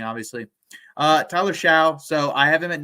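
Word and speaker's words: Shough: mispronounce his name uh not really difficult to pronounce but it's just weird spelling obviously uh Tyler Xiao so I have him at number eight and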